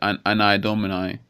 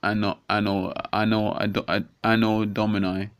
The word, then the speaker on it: anno domini: Some people might say anni domini, but it's pronounced anno domini.